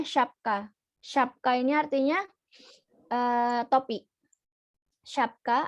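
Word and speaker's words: şapka: She ini S yang berekor. S yang berekor ini dibacanya she. She. Jadi kalau ini kata ini dibacanya syapka.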